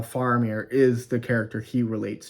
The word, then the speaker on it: Faramir: Fair Fier okay I've been saying it wrong faramir um not faramir faramir dang it I'm sorry I I I mean